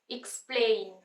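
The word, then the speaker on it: explain: silent एक्सपायर ऐसे ही एक्सप्लेन एक्सप्लेन नहीं एक्सप्लेन एक्सप्लेन पले स पे स्ट्रेस आ रहा है तो इसको हमने लाउड बोलना है थोड़ा एक्सप्ले एई साउंड यानी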